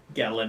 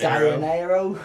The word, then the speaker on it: Gallinero: Gallinero. Gallinero.